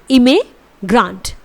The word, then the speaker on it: immigrant: इसके बाद IMMIGRANT, इट इज़ इमिग्रांट। इसे आप प्रोनाउंस करेंगे इमिग्रांट, इमिग्रांट। Alright, so that's all in this video.